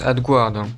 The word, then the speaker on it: AdGuard: Ça se prononce AdGuard.